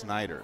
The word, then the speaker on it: Schneider: wrong Kelly Schneider yeah there's no H it's Schneider Schneider yeah because I talked she